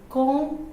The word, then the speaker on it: comb: comb your hair. B is silent.